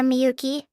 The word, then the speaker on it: Miyuki: Miyuki? Yeah, Miyuki.